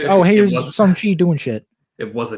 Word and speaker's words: Shang-Chi: Well, technically, you big racist, it's pronounced Shang-Chi.